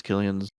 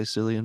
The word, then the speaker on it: Cillian: I used to say Cillian Murphy until I saw an interview with him where he said his name and I was like, "Oh, that's how you say it. Cool."